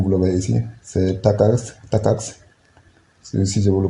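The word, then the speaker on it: TACACS: Comme vous le voyez ici, c'est Takax, si je vous le prononce comme ça.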